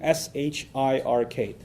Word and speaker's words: shirk: out for you too s h i r k so nothing worse for a muslim from a faith perspective nothing worse than shirk s-h-i-r-k sounds like shrek so that's easy to